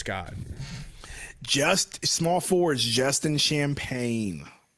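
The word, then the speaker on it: Champagnie: Just small forwards, Justin Champagne. Champagne.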